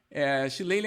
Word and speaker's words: Shillelagh: Shillelagh é uma palavra irlandesa, né? Por isso que ela tem a pronúncia tão distinta da grafia.